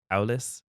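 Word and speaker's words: Aulis: pronunciation of this too it is a u l i s Al Alis it's like a that's all I heard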